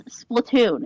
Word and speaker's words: Splatoon: We're Cause never I gonna didn't pronounce it Splatoon. You know what? It's Splatoon.